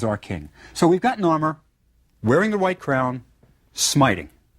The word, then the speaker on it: Narmer: and a chisel now the fish was pronounced nor and the chisel is pronounced mer Narmer this is the man